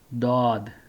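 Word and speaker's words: ض: it in mind that this alphabet Zod is pronounced Zod in Urdu only, and in Arabic the same alphabet is pronounced as Dod.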